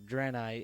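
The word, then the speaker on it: Draenei: with was drani and yes I've always pronounced the drani I I've played Warcraft 3 a lot and I really do know a lot of these words how they've been said throughout the Warcraft lore so dreni is pronounced like that I it's just me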